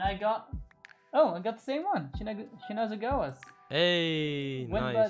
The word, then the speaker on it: Shinazugawa: Shinazugawa. Shinazugawa, that looks cool. It's Shinazugawa, like a bunch of cards. Okay, my turn again. Come here. All right. Yep. And I got the same one. Shinazugawa's.